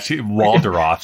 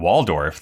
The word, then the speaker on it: Waldorf: She pronounces Waldorf in a way that it rhymes with the word off. Yeah, Waldorf, I think is how she actually pronounces it.